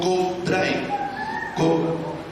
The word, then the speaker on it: Kobe Bryant: Hace 2 años atrás, en el 2022, un jugador de la NBA que se llamó Kobe Bryant, ahí está, gracias, se pronuncia como en inglés.